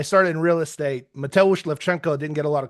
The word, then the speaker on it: Lewczenko: It's pronounced Levchenko, just like it's spelled.